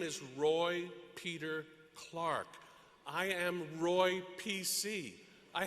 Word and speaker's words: Clark: I love returning to Rhode Island to hear my last name, Clark, pronounced like the timepiece, clock.